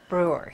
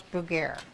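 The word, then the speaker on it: Brugier: everybody pronounces it differently I pronounce it Brewer I have cousins that pronounce Abreu guerre but it's BR ugh ier and so she marries Reverend Charles brew beer and he gets transferred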